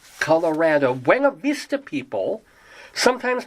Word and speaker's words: Colorado: Colorado, Colorado, or the Spanish would probably say Colorado, Colorado, but we say Colorado. And I don't even know why I say we. I've only lived here 9 years, but that's the way we pronounce it.